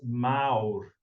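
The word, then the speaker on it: Már: Ghost one country, how Mal Brown Cow is like in England because you pronounce it as Maur. Maur. Rolling R, Maur. Maur, Maur. You gotta roll your tongue.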